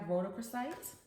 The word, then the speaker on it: rhodochrosite: So first we have rhodochrosite.